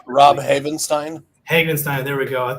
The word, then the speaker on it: Havenstein: The longtime veteran for the Ravens, what was it, Heinstein? Or I'm trying to remember how to say his name. Rob Havenstein.